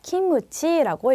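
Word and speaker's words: キムチ: 그다음에 김치는 이제 일본식으로 김하고이 받침 발음이 굉장히 어렵습니다. 그래서 이거를 이제 늘려서 키무치라고 일본인들은 발음을 하게 된 거죠.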